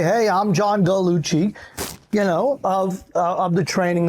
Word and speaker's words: Gallucci: Because I've gone through life where people call me Gallucci. And there's no U, and CCI in Italian is Chi. Mm-hmm. So it's really Gallucci.